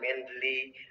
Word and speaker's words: Mendeley: Oke, lihat tulisannya ada Mendeley ya, Reference Manager. Bacanya Mendeley Reference Manager.